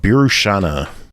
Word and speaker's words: Birushana: Brooke, tell us about Birushana.